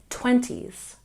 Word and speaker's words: 20s: When we say 20s, we put a stress on the first syllable. 20s, 20s.